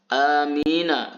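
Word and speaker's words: أمين: yang paling baik adalah amina bil qasri, huruf hamzahnya dibaca pendek. Wa bi takhfifil mimi, dan tidak mensyiddahkan, tidak membaca huruf mimnya bertasydid. Nah, bagaimana cara bacanya adalah amin.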